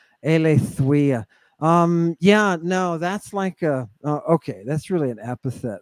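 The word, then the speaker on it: Eileithyia: Or Eleithuia, excuse me. You're thinking probably the goddess of childbirth, which is Eleithuia. Eleithuia.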